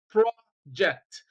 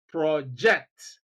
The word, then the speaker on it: project: But then we have stress on the second syllable of the same word when we use it as a verb and we pronounce it as project. So you have project as a noun, you have project as a verb.